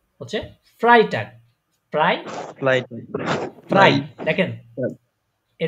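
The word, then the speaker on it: Freitag: এটা কি এফ এফ এফ এফ তে হচ্ছে ফ্রাই টাক ফ্রাই ফ্রাই ফ্রাই দেখেন এই দেখেন দেখেন এখানে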